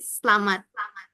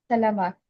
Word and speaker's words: selamat: I can I just want check the pronunciation of good and formal in MAP in Indonesian. I I'm going to say salamat. Selamat. Yes.